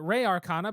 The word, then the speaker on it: Res Arcana: It is Res Arcana. I always pronounce it Re Arcana because of Republica, and maybe it needs to be Res anyway.